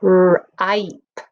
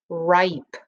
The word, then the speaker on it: ripe: the end, we know it is a silent E. Doesn't make a sound, but it jumps over the letter P and tells this vowel to say its own name. So ripe, ripe.